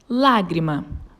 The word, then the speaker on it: lágrima: A sílaba tônica da palavra história é o tó, e ela está na penúltima sílaba da palavra.